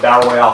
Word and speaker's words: battle royale: i'm a wrestling fan it's always pronounced battle royal and he was giving me before we turned the cameras on about it i was like that's what they always called it but honestly it's like